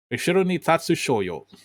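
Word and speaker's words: 後ろに立つ少女: Ishiro ni Tatsu Shoyo is how it is pronounced in Japanese.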